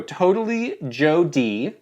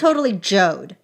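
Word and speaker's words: TotallyJode: I could go Totally Joe D, Totally Jode. What do you think? It's Totally Jode.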